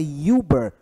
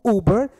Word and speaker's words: Uber: e esse som de Uber tem som de u aquele um longo então Uber Uber Uber é Uber e não é ilber ilber tão Uber SOS ele tem som de u mais longo então se ele tem